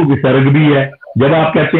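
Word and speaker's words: भूः: क्योंकि शांति ही, शांति ही, शांति ही, तो वो कहते हैं, इंसिस्ट करते हैं कि आप जब उच्चारण करें तो ह का उच्चारण होना चाहिए। भूहू, आप गायत्री मंत्र पढ़ते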